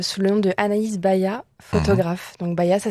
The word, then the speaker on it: Baya: Alors moi, tu peux me retrouver sur Insta sous le nom de Anaïs Baya, photographe. Donc Baya, ça s'écrit B-A-Y-A.